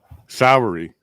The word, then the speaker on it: Sowery: James, how do you say your last name? Sowery. Okay, it's like our justice system is Sowery now.